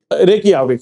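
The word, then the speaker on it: Reykjavík: क्या बोलना है रेक रेक याविक सर फाइन तो कैपिटल कौन सी है रेक याविक क्यों क्योंकि लैंग्वेज कौन सी यूज़ करते हैं वो आइसलेंडिंग तो आइसलैडिंग में ज को य प्रोनाउंस करते हैं फाइन रेक याविक ठीक है जी।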